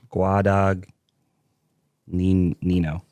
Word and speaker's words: Guadagnino: Guadag nino. Guadagnino. That's how I spell it.